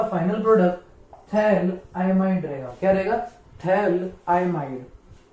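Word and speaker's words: phthalimide: इसको हम थैलीमाइड पढ़ते, थैलीमाइड, बट एक्चुअल प्रोनाउंसिएशन उसका थैल आइमाइड है।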